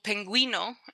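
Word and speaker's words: pingüino: And that U with the two little dots, that tells you that the GU, for example, penguino or bilingue, has a gua sound to it. That's the only time that you will hear the gua sound.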